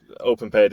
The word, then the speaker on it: OpenPayd: We had to train it not to OpenPayd is OPENPAYD, and we had to train it not to be OPENPAID.